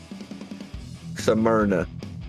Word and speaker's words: Smyrna: i'd say uh how would how would you pronounce this track's name let me get that out of the way first smyrna yeah tanner's like meat uh i i caught it samir enough smyrna i was all over the place man there's